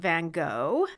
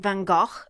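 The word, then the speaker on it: Van Gogh: of the brother of Vincent Van go Vincent vano is the actual pronunciation um what I think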